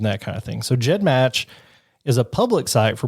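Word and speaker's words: GEDmatch: their owners the named GED match it's actually pronounced Jed match refers to the file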